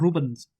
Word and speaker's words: Rubens: Anyway, so in 1970, I bet does it even pronounce the S at the end of Rubens? I can't remember. It's like Rubens.